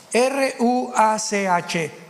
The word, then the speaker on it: ruach: Apunten todos ustedes, los que les interese en su Biblia, la palabra espíritu, que la palabra se escribe ruach, R-U-A-C-H, ruach, que es la palabra espíritu.